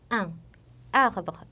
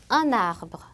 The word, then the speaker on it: un arbre: un arbre 라는 단어를 보시면 원래 각자 발음했을 땐 un arbre 이렇게 되겠지만 앞에 나온 n이 발음되지 않는 자음이고 뒤에 나온 a가 모음이기 때문에 이때 연음이 돼서 un arbre 이렇게 n이 연음이 됩니다.